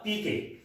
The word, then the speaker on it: pique: Spelling आप देखिए PIQUE, लेकिन इसका प्रोनाउंसिएशन होगा पीके। ठीक है, पीके। ठीक है, तो इसका प्रोनाउंसिएशन पीके है।